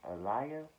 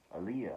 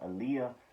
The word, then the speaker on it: Aaliyah: stop really uh uh i want to pronounce that right alaia aaliyah aaliyah why am i saying a liar aaliyah boston she looked like